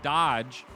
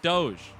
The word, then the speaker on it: Dodge: First one to type decentralized Dodge, spelled properly, gonna win themselves a loot box. Now it's not Doge. That's not Doge. It's Dodge. It's gonna be Dodge.